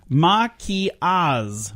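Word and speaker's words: maquillage: your grandiloquent word of the day it is Maki Oz what do you think Maki Oz means Heidi I don't know I'm gonna spell it for you because this is not how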